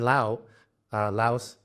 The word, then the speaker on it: Laos: Like right now I'm in Laos. I don't like this. Laos is the correct English pronunciation, but it's in Thai and Lao. In the language itself, it's Lao. So let me call it Lao.